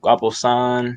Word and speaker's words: Guaposahn: people be you know not pronouncing it right guaposan saying son people destroyed my last